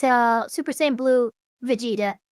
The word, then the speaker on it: Vegeta: Uh, it's uh Super Saiyan Blue Vegeta. Vegeta. That's the Japanese um pronunciation.